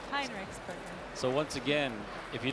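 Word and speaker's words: Heinrichsberger: I was saying it wrong. Right. There was an E in there. I didn't know it was there. HEINREICHSBERGER.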